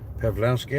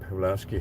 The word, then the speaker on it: Pawlowski: Pawlowski, I think is the way it's pronounced.